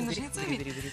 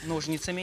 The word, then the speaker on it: ножницами: Резко шевелишь возле меня этими большими ножницами. Ножницами, а не ножницами. Ударение в другом месте.